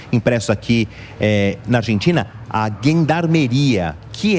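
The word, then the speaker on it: gendarmería: E a gendarmeria, ou gendarmeria, né, numa pronúncia mais próxima aqui do argentino, do castelhano, do espanhol, é que faz esse transporte do material eleitoral.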